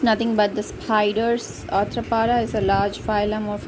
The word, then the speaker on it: arthropod: This word is arthropod in American and R silent, arthropod. It is POD, but Americans drop the jaw and extend the mouth, like stretch the mouth as arthropod in American, and R is silent, arthropod, POD, pod in British.